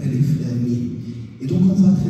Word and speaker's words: Alif Lam Mim: D'ailleurs, le prophète avait corrigé Abu Bakr, un des compagnons, dans sa prononciation, non pas de dire Alam, mais Alif Lam Mim.